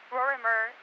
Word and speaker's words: Rorimer: That's 16645 Vermeer, Rorimer, phonetically spelled Robert Ocean, Robert Ida, Mary Edward Robert Street in La Puente.